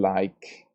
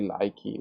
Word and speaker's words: like: we're talking about pronunciation because the verb like in spelling it ends in E, but in pronunciation the last consonant that is pronounced is the K consonant. We don't say likey, we say like.